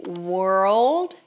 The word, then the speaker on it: world: invés de ver world, separa, fala were, were, old, old, were. Old were old were old were old world.